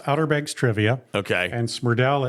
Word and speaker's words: Smrdel: And Smrdel, it looks wrong when you spell it out, but it's right. It's Smrdel.